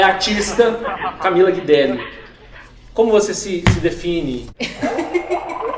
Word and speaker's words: Guidelli: Essa é a pronúncia? É, Guilherme. Guidelli.